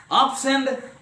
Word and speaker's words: absent: So in such cases, so when a word is used as noun or adjective, stress will be on the first syllable. The same word when used as a verb, the stress will be on the second syllable.